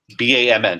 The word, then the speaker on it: BAMN: What happens if there was a group, and the name of the group is BAMN, just calling it short, BAM, that's how they pronounce it.